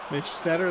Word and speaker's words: Stutter: Mitch Stutter, that is indeed how you pronounce it.